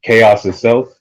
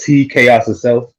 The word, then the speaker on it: Tchaositself: my name is Tchaositself. I spell it Tchaositself. The T is silent like the D in Django, and I just like how it looks.